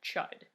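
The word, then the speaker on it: Chüd: it's Chad true guys I read an audiobook because I'm lazy they pronounced it chide ok what about like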